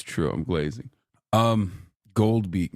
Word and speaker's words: Goldbeak: Gold Beak, not Golden Beak.